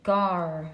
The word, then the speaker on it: Gar: know how to pronounce it the ad the gar ah there we go so it says pronunciation gar yeah yeah so um gar translates to spear